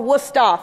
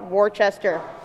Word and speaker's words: Worcester: my college which is spelled or pronounced Worcester or wora for the locals not w Chester um this presentation is